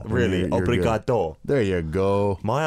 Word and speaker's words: obrigado: Just change the last syllable to an O. Really? You're Obrigado.